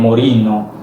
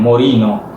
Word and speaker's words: Moreno: So basically in Italian people pronounce my name Morino, and in Spanish it's also the same thing, Morino.